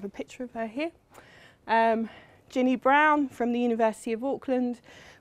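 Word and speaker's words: Braun: brown and Clark and it's pronounced brown not brawn so you're in the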